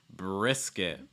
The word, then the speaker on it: brisket: Another barbecue type food is brisket. Brisket with a short I sound.